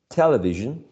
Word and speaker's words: television: uh exercise number nine the correct one is the first syllable television Television right television television not